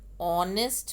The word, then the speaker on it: honest: mp he is an honest man again honest h is silent so sound of wobble